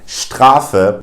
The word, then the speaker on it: Strafe: SP or an ST, the S will generally be pronounced as a sh. For instance, in words like spielen, which means to play, or in words like Strafe, which stands for penalty in German.